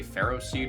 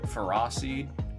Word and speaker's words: Ferroseed: Apparently, you're not supposed to say Ferroseed. You're supposed to say Ferroseed.